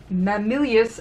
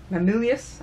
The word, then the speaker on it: Mamilius: I'm gonna keep calling Maximilian because I'm gonna pronounce it that terribly wrong. Mamilius, actually. Mamilius, I don't think there's an X in there.